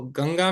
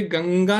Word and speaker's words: गंगा: तो इसीलिए गंगा नहीं है वास्तव में। गंगा है। है ना?